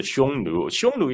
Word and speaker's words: Xiongnu: mongolian step called the shonu is actually a modern mandarin pronunciation uh the the the